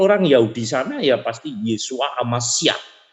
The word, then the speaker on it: Yesua: Kalau orang Yahudi sana ya pasti Yesua Amasyah. Yesua, bukan Yosua, beda ya.